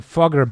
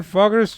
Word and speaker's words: Fugger: A Fugger bank. Run by the Fugger family. Fugger. The Fuggers. Probably not pronounced like that, because it's German, but it's funnier to say Fugger.